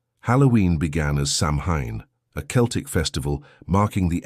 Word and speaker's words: Samhain: the Celtic people celebrated a festival called Samhain, pronounced Samhain.